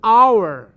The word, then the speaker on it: hour: H มีแต่ว่า O H ไม่มีเสียงเป็น O like 1 hour อันนี้ hour 1 ชั่วโมงสะกดดังเลย H O U R but when we